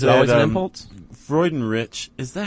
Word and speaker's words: Freudenrich: I thought it was Craig Freundlich. No, there's no L.